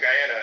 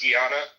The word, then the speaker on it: Guyana: like, "Yeah, you know, because my family's from Guyana." And she would literally be like, "It's pronounced Gana."